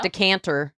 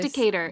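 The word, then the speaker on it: Decatur: Decanter. Decanter. Heard. No, it is Decator.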